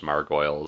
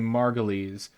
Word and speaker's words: Margolyes: Until yesterday, I thought it was Margoyles, so I'm not the guy to ask. Wikipedia tells me Margolyes.